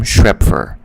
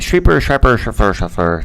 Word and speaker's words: Schrepfer: My name is Schrepfer. But they said Schrepfer. Never said it right.